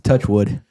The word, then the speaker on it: Touchwood: It's not Torchwood. Ah, it's Touchwood.